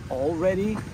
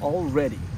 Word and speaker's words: already: С ударением на первый слог already и с ударением на последний already.